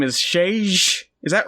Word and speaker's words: Šejić: creator himself said that if you say sage especially if you can say it with like a little bit of an accent then that's the closest you could get we